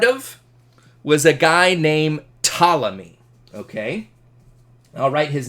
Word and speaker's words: Ptolemy: was a guy named Ptolemy okay I'll write his name down Ptolemy's Ptolemy and by the way the the P is silent so when you're saying this guy's name it's just Ptolemy okay just Ptolemy this